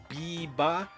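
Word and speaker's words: ビーバー: Biba is how you say it in Japanese.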